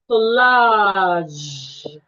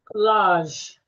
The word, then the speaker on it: collage: Collage. Collage. That's transcription. You're stressing the first syllable. It has two syllables and it's a noun.